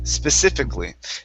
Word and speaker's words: specifically: uh the word specifically Specifically Now in this word we are not going to pronounce that a Okay So it's specifically Specifically Specifically Good Good